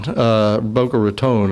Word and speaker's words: Boca Raton: Boca Raton, I think, is the correct way to say it in past.